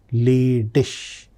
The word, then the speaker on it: ledig: Ledig. Ending is IG. Ending is IG. So that is pronounced as sh. So that's why ledig.